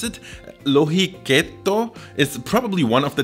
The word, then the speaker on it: lohikeitto: and this soup okay i'm gonna try to pronounce it lohi ketto is probably one of the tastiest and easiest